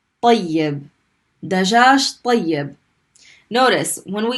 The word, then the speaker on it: طيب: So we had ta with a fatha and we stopped on the ya. We get tay. And then when we pronounce the ya the second time with the kasra, طي. طيب.